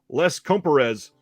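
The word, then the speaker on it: Les Compères: talk about this tonight can you tell me how to pronounce it and she said sure Les comparez I was like wow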